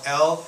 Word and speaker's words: Elle: I guess fashion SL news/ entertainment magazine called L which is pronounced e l l e well they did